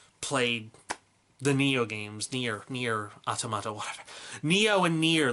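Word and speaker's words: NieR: hunter stories neo neo Huayra pronounce it freaking near and automata I never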